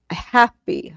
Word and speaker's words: Hapi: happy, HAPY. It's spelled HAPY when you transliterate and it's the one that has a baboon on top.